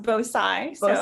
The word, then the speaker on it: Bhosai: are pretty close uh my last name is pronounced bosai okay i just wanted